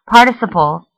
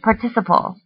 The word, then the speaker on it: participle: Some pronounce the word participle, while others say participle. Both are correct and both can be used.